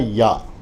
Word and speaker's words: یا: جائے گا عربی میں، اور صحیح تلفظ کے اعتبار سے یہ ہے یا۔ تو یہ یا اور